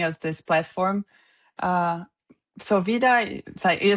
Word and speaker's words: Wyda: And just to be clear the company is pronounced VIA. Vida. Yes. Vida.